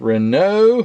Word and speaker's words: Renault: number four of the 1906 Rena and I said it right to all the Frenchmen the Renault Town Car